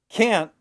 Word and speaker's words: can't: And can't, because of the T on the end, the sound is shorter.